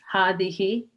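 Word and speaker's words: هذه: It is pronounced hadihi, but the alif is omitted in writing.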